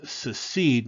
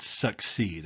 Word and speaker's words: secede: by the way uh it's secede not succeed i've heard a lot of people mispronounce that word the uh the confederate